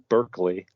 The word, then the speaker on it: Berkeley: I think that this Berkeley, which we in America would pronounce Berkeley, is the guy who the university is named after, I think.